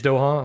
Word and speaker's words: Doha: Air defense activity reported over, I think it's pronounced Doha. I don't really know how to pronounce that. Doha? Doha? No idea. I'm probably butchering that. Where is Doha? Doha, Qatar. It is Doha?